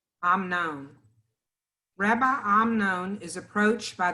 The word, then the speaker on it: Amnon: Michelle, would you start for us the legend of Rabbi Amnon, and then Lena, did you find it?